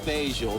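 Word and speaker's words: Fageol: the name of the box uh actually it's pronounced facial but i just thought i'd throw that in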